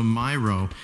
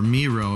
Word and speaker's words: Miro: has iTunes and also Myro uh or Miro if you pronounce it